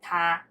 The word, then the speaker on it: 他: But it both pronounced as 他. 他, both.